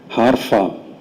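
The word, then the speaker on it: Harpham: കാലത്ത് വായിച്ച Jeffrey ഗാൾട്ട് ഹാർഫാം ജിഇ ഒ എഫ് എഫ് ആർ ഇ വൈ ജിഎ എൽ ടി എച്ച് എ ആർ പി എച്ച് എം ഉച്ചാരണം ഹാർഫായിരിക്കും അദ്ദേഹം എഴുതിയ returning to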